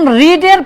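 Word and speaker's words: read: কি করব পার্টিসিপল যেমন রিডের পাস্ট পার্টিসিপল বানান একই থাকে শুধু উচ্চারণে হয় রেড ঠিক আছে আর রাইটের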